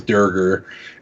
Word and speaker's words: Draugr: So, like, they're the Draugr in the game, which is a D&D reference. They initially misspoke and called it the Durger. And so that's canonically how it's pronounced in the game, is Durger.